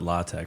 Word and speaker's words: LaTeX: talking about it's like it's spelled latex but they call it latch for whatever reason and